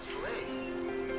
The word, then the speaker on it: sleigh: And the word sleigh rhymes with play. Sleigh, play. Okay?